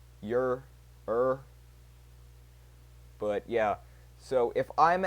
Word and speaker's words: Ure: How do you even pronounce that dude's last name? Yur. Yur.